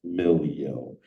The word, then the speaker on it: MiLEO: and Milo where that came from it is pronounced Milo so if you can see the color scheme